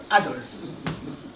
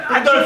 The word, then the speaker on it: Adolphe: Parce que comme tu le sais très bien, le Adolphe de Hitler s'écrit avec un F. Alors que le mien, le Adolphe français, s'écrit P-H-E. Mais c'est pareil. La fait PH, c'est pareil. Adolphe.